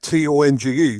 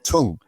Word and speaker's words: Tonge: One thing I want to ask is your your surname T O N G. Do you pronounce it Tong or Tong? It's Tong. T O N G E tong as in as in your mouth tongue.